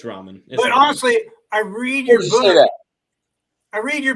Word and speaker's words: ramen: yeah yeah you look great but did you pronounce it Raymond Noodles yeah that's how they're pronounced Raymond knows Ramen it's it's Ramen I see Raymond are you sure it's not